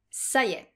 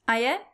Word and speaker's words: ça y est: And note that often French people tend to pronounce it aïe, aïe.